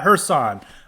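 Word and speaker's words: Kherson: I learned through my high IQ how to pronounce it and then the fourth we've got hersan which sometimes one of the funny things is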